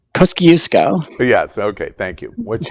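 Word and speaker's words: Kosciuszko: the top uh in AUST Australia to mount Kuku kuo did I pronounce that right kusco yes okay thank you what you say that's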